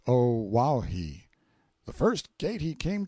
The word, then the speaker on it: Oahu: I named him after this island, Oahu, pronounced O Wahhei.